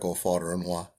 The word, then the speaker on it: Ofodirinwa: My name is Ofodirinwa.